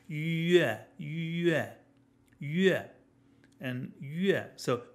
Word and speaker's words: yue: Just a plain old e, the exact same e we have in egg or a million other English words. So it's yue, yue, yue, and yue.